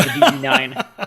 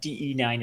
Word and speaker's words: DE-9: the exact details so I looked it up and de9 is in fact correct anyway what this thing